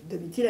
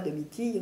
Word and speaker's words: Domitille: ailleurs ça se prononce deitile à latine parce qu'en latin ville achile prisile on dit pas deitille on dit pas on dit pas mirtil on dit deitil si on veut respecter l'étymologie latine et alors justement pour